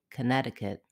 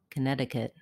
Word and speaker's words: Connecticut: how to pronounce connecticut the second letter c in connecticut is silent the stress in connecticut falls on the ne syllable connecticut the letter o in